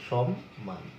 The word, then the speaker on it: সম্মান: আমরা যদি একটা শব্দ বলি, যেমন সম্মান, তিনি আমাকে অনেক সম্মান করেন, তাহলে এটা আমরা কিন্তু আমরা লিখছি দন্তস্ব দিয়ে, কিন্তু উচ্চারণ করছি আমরা তালবস্য দিয়ে, সম্মান, এরকম সম্মান।